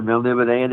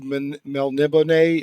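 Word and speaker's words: Melniboné: Is it Elric of Melnibone? Is that how you say it? Melnibone? That's how I say it.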